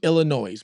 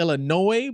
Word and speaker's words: Illinois: guess you're pronouncing it Illinois, but I've been pronouncing it Illinois. You know what? I never knew. Never knew that that S was silent.